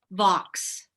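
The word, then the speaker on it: Vaux: the scent of water vox rhymes with hawks but these are swifts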